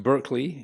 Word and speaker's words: Berkeley: So one of the philosophers that was sort of active talking about this area was Bishop Berkeley, pronounced Berkeley in America. So the Berkeley in California is named after him.